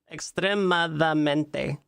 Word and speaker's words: extremadamente: Oh, I did put an extra syllable in there. Extremadamente. Huh.